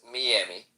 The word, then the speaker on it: Miami: I'm gonna be in, and by the way, it's pronounced Miami.